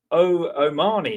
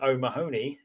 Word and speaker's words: O'Mahony: And then Omani, apparently, is how you pronounce it. We've been saying O'Mahony, but Omani.